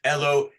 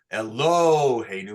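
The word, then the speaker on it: Eloheinu: Elohenu, because it's under the hey, right? We don't say Elohenu or Elohenu. We say Elohenu.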